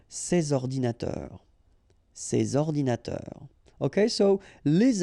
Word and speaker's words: ces ordinateurs: And in that case I took the plural form, so these here, and then ordinateur, computers, so you should make the liaison between s and o, ces ordinateurs, ces ordinateurs.